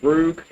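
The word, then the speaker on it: rouge: Is that how you pronounce it? Roog?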